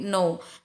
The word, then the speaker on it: know: kata now yang mengetahui bukan know tapi now karena kannya berada sebelum huruf n i hai oke Thailand